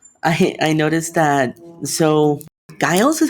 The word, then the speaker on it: Guile: in the hospital i i noticed that so guy else is how you pronounce his name i'm so sorry daryl yeah